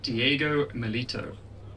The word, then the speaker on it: Diego Milito: It's Diego Milito.